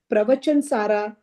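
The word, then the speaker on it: प्रवचनसार: Saurashtra, where Samay Sara, Pravachan Sara, Pancha Sar. Remember, if there's a line on top, only then you pronounce a. Otherwise, it's a. So Pravachan, Samay Sar, Pravachan Sar, like that.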